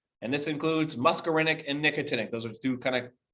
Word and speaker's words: nicotinic: call glands and then nicotinic kind of sounds like the word nicotine okay but these receptors